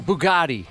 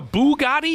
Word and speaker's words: Bugatti: I'm driving a Bugatti? Is that how you say it? Bugatti, yeah.